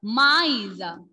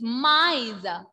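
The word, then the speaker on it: maïs: That is mice. Word in French is mice. Mice. Repeat everyone. Mice.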